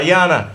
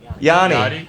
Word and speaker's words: Yianna: Yianna. Am I saying it right? Yanni.